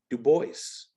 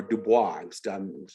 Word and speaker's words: Du Bois: Du Bois or Dubois? I'm still never quite sure the proper way to pronounce it. I'll say Du Bois.